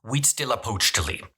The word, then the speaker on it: Huitzilopochtli: One is pronounced Huitzilopochtli. Huitzilopochtli is a bloodthirsty god who the Mexica believed ruled from Tenochtitlan before they arrived.